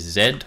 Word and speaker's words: Z: use a keyboard shortcut which is Zed or or Z I guess depending on how you want to pronounce it and you can just